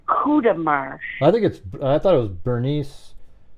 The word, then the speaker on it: Courtemanche: It's a big French So it's like a family.